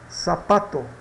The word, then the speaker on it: zapato: Que temos aqui um exemplo da palavra zapato. Isso vai ser pronunciada como sapato, sapato, tá?